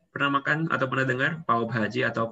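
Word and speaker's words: पाव भाजी: Jadi dibacanya pav bhaji.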